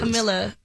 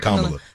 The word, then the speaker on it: Kamala: Camilla. Is Kamala or Kamala? Kamala.